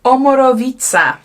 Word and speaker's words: Omorovicza: Oh, it's got in here how to pronounce it, and it's Omorovicza.